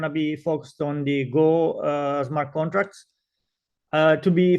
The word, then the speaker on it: GHO: of the a governance is pronounced go uh so the AG is muted um we uh in